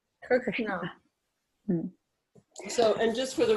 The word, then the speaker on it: Krishna: yeah okay so na so like Krishna the tongue is back there like as the tongue is it the tongue is at the the ASA is this the tongue is at on the teeth the back of the teeth Krishna is all like cereal kishish cere against the roof Krishna kishna so and just